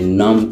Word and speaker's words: numb: ශබ්ද වෙන්නේ නම් කියලා B අකුර silent letter එකක්.